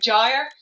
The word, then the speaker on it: gyre: Pacific Ring of Fire specific gyre uh rhymes with that which is good and